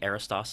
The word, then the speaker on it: Aristos: but it's gonna be Aris toss life calm okay and that's so you want to spell that okay a RI st OS okay life almost like Aristotle Oh what I was